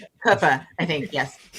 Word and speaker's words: Cooper: Roy Koopa is how his family apparently pronounced it.